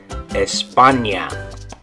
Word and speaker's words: España: In English, it would be Spain, is how we'd say it, but in Spanish, it's going to be España. In English, Spain. In Spanish, España.